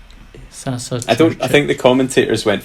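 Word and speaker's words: Saša Čurčić: Sasa Churchic.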